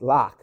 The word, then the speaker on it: Lok: dan loke dunlock yeah i've been pronouncing his name for 20 almost 20 years they're wrong it's lock not local even though i say loca i'm sending look a thousand times it's locked like lock but um but in 2003